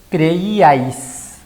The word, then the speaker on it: creíais: Creíais tiene 3 sílabas.